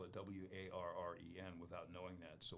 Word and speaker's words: Woren: most people spell it w-a-r-r-e-n without knowing that so when I introduce myself I would say hi I'm Warren that's w-o-r-e-n so anyway I just